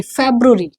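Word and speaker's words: February: फे ये क्या फरवरी नहीं, फेब्रुवरी, फे इसको प्रैक्टिस करिए,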